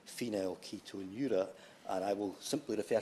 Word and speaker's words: Phenylketonuria: before I received it to find out the pronunciation and very sensibly informed us all that it's Phenylketonuria.